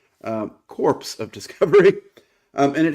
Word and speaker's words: Corps: I think the word is technically pronounced core but uh because of the theme I think it might actually be supposed to be pronounced um corpse of discovery.